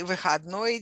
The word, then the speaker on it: выходной: We say выходной день, or simply выходной. Выходной. Выходной with a stress on the last syllable.